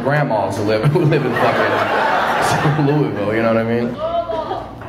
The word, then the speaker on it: Louisville: who live in fucking Louisville, you know what I mean? Oh! Fuck out of here, dude. I'm not pronouncing it like I've got a dick in my mouth. Use all your fucking letters, okay?